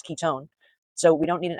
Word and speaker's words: ketone: I know it's spelled one, but it's pronounced own. Ketone.